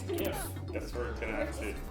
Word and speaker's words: GIF: that it should be pronounced GIF like the brand of peanut butter rather than with the hard G sound.